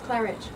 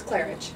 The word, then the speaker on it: Klarich: really dope accent we have the beautiful clarich am I pronouncing that right you are okay wonderful oh was it clarich cleric no it's clarich it is clarich yeah man I I'm always wrong with the